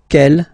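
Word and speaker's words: quel: for the phonetics okay the way to pronounce them Kel masculine form here will be pronounced exactly as the feminine form here K so only one sound okay and then the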